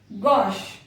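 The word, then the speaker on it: gauche: शिक, गॉश, निश। तो ऐसे बहुत सारे वर्ड्स हैं जहां पर कि CH को शा प्रोनाउंस किया जाता है।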